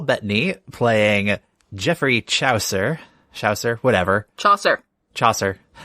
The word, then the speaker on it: Chaucer: Chaucer. Rhymes with saucer.